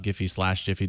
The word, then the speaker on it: Giphy: And one final thing, because we talked a little bit about Giphy/Jiffy, depending on how you pronounce it.